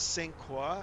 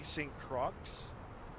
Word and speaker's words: St. Croix: So it is St. Croix. I am saying it right. Some people say St. Croix. I think it's a French.